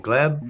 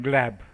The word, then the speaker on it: Gleb: you say how do you say your name glab glab yeah but you can call me Glenn because